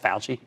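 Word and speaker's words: Fauci: Tony Falchi that's FAU ch CI at the UCI but it's pronounced pal G he's an immunologist and director of the National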